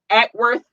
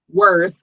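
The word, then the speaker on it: Acworth: Atworth, Georgia, I got it right this time. They've been checking on me and telling me I've been saying it wrong. Yeah. Atworth, Georgia, I love you.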